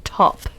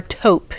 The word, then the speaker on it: taupe: And this one is dark taupe. Or taupe, depending on how you pronounce that.